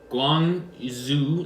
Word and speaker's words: Guangzhou: Guangzhou, like Zhou.